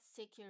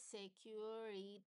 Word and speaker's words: security: So here, this is the proper way of pronunciation of the word security. So it's not secure, right? This is security.